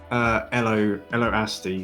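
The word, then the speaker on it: Ello Asty: Elo Asti, because he's named after the Beastie Boys song Hello.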